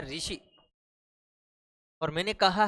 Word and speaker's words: ऋषि: कहेंगे मैंने कहा है जैसे ये कहा है ऋषि और मैंने कहा है ऋषि अब इनका उच्चारण करेंगे उच्चारण करेंगे तो बिल्कुल एक जैसा